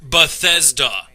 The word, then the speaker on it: Bethesda: Everyone, I know that this is a nuance and kind of nitpicking, but it's actually pronounced Bethesda.